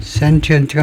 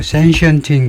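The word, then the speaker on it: sentient: 근데 센 센트언트가 아니고 센시언트인 거 같아요.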